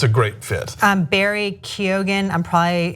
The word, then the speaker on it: Keoghan: Barry Keoghan, how do you pronounce that? I think it's Keoghan.